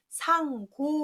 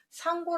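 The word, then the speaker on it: 商賈: 짜라고 해서 장사하는 그 사람들을 뭐라고 하냐 그러면 상고 오라고 합니다 장사 상자를 써서 그래서 그럴게 갇힌 한 짜지만 가 c 가 들어간다고 할 때는 가라 고 있고 상고 라고 할 때는 고 라고 있다해서 발음을 조심하면서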